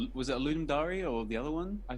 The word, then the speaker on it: Ludum Dare: the way, for the official pronunciation of that game jam, Ludum Dare. Is that right? We don't That's know. how I've been saying Ludum Dare.